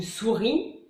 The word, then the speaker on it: souris: Les mots finissant par IS, on ne prononce pas le S, comme une souris ou un radis.